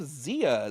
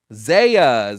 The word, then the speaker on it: Zia: Next up on the line, we have Zia. Zia? Is that how I pronounce it? Zaya? It's Zaya.